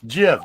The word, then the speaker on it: GIF: No, it's Jif, just like the peanut butter.